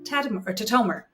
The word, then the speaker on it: Tatomer: And today I have with me my friend, Emily Tatomer.